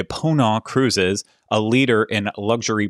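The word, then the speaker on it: Ponant: completely wrong but i i read that the the t at the end is silent like in croissant so i'm going to say pona cruises a leader in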